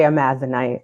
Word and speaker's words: Amazonite: And Lainey, I just saw a clip of you talking about, how do you pronounce it? Is it Amazonite? Yeah, I say Amazonite.